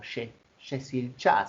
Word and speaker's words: Yeşilçam: En Turquía, por ejemplo, se llama Yeşilçam, o Yeşilçay se pronuncia, es turco, que quiere decir pino verde,